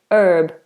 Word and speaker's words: herb: basil is a herb and in America they say basil and in some plac in America they say herb so they won't say the H not all of course